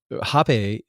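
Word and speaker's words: rapé: gonna be rough so the uh jape which is spelled r-a-p-e um with an accented e um but yeah I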